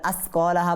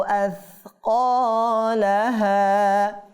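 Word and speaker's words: أثقالها: তাহলে আসকালাহা বলা যাবে না, আসকালাহা। জিব্বার এ দেখেন জিব্বার আগা আছে না, এই জিব্বার আগাটা দাঁতের আগার মধ্যে লাগাবো, তারপর সা উচ্চারণ করবো।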